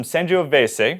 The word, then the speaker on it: Sangiovese: And I bought some Sanjioveves. I learned it's that pronunciation from my good friend Tony.